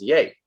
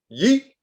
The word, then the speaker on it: Ye: of kanye he will be known simply as yay but he's been very clear about the pronunciation he does not want to be known as ye is it really pronounced yay because it's